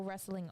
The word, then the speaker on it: wrestling: we had with pro wrestling r there was another um sponsoring company that was wrestling recovery wrestling wrestling and recovery and its recovery with a w r e silent letter and he explained to